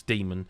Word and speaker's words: Daemon: It's one of those where it's spelt Daemon, but it's Demon.